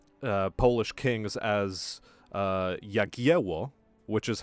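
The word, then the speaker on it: Jagiełło: one of the uh polish kings as uh yakiwo which is how we now say it uh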